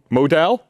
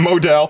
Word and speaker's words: modal: dose of confidence me is made from Mod Modell Modell I said it I've been saying it wrong apparently for months me is made from modal they wrote it in here pronounced modal like